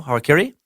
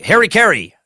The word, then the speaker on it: harakiri: I've always heard as like harikiri. That's definitely wrong. That is definitely wrong if you're trying to pronounce it right.